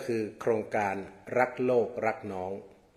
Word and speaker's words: รักษ์: การัน นั่น คือ รัก แต่ เวลา ออก เสียง ก็ ออก รัก เหมือน กัน นั่น แหละ เพียง แต่